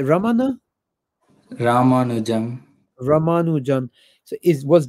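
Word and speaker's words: Ramanujan: R ramanu yeah how do you say Raman ramanu Jam ramanu Jam so is was this guy tammo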